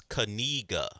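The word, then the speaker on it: Knigga: In the Spanish language, E is pronounced A, not I. Right, but I is E. That's fine, but you'll have to tell me where's the E. There's no E. Well, let me be clear. It's Kanega.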